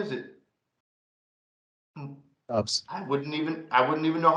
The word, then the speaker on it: Doubs: Is it Doubs? I wouldn't even know how to guess. It's Romeo Doubs.